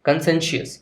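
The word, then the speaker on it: conscientious: सो यहाँ पे लिखा है कन, तो आप इसको बोलेंगे कन। सेन, यहाँ लिखा है सेन। शी, अस। सो आप यहाँ पे इसको प्रोनाउंसिएशन फिर कैसे हो जाएगा आप कंबाइन कर लीजिए, कंसेंशियस।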